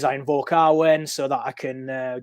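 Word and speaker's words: Awen: Muse in the Welsh it's called Arwen spelled a w-e-n what the the W is like a owl sound so it's R when and he invokes um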